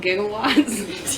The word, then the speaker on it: gigawatts: Gigawatts is how you say it. It even says that. But Does it for real? Yeah, it says giga, J-I-G-G.